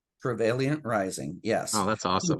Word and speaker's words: Travailiant Rising: And excuse me, because I just want to make sure I'm pronouncing that right. Is it Travailiant Rising? Travailiant Rising, yes.